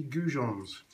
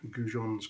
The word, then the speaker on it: goujons: going to make turkey gons gon actually comes it's a French pronunciation of a fish that we have in the UK well in Europe mainly in the UK and in France called a gin and there are gin